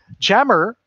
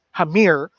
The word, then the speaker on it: Jameer: Jammer, as he's known from the mispronunciation of his last name, correctly pronounced as Hamir, is involved with no less than 9 different organizations.